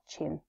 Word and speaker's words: Qin: His name literally translates to First Emperor of Qin. For those that are having trouble remembering how to pronounce it, think about the chin on our faces and you've got it pretty close. So, Qin was born in 259